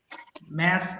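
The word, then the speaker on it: mass: এই যে ম্যাস rising ম্যাস rising অথবা মাস রাইজিং উচ্চারণটা দুটোই সঠিক ম্যাস এবং মাস বোথ আর কারেক্ট ম্যাস রাইজিং গণঅব্ধ যাক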